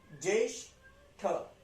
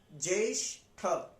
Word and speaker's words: ज्येष्ठ: जेठ, ज्येष्ठ, जे आधा ज है ना, तो उसको य के साथ हम प्रोनाउंस करेंगे, य पे क्या लगा हुआ है, एक ही मात्रा, तो जे जे ज्येष्ठ, ज्येष्ठ, ठ से ठठेरा वाला, ज्येष्ठ।